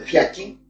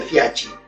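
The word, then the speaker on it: Fiaschi: Siempre hablaba de Fiachi, pero mis amigos italianos y mi propia señora que italiana dijo, Óca, no se dice Fiaki, no es Fiachi.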